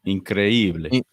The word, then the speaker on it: increíble: Increíble.